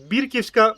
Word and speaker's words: бірківська: від назвою цього селища тому бірківська барвиста тобто наголос на першу і давайте Тепер правильно називати